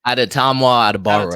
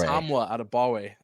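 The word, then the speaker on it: Adetomiwa Adebawore: Adetamwa Adebawore. Adetamwa Adebawore.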